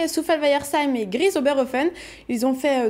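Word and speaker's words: Souffelweyersheim: c'est compliqué à prononcer Souffalweyersheim. Non, ça va. Ça va pour vous et pas pour les autres, si jamais un tuto, regardez. On commence par Souffel. Ensuite Weyer. Et enfin Seim. Souffel-Weyersheim.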